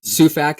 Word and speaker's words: Sufak: it's just s UF a k that's right suac is that pronounced properly that's right yeah try to keep